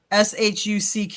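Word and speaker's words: Shough: I think it was shuck because I think I saw the pronunciation. It was like shock. It's sh hu ck is how it's how it's pronounced.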